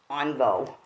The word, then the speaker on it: Onvo: half what they call envo it's a truck stop thing but the Burger King was closed but we still got our large sodas um onvo is how it's pronounced right here so we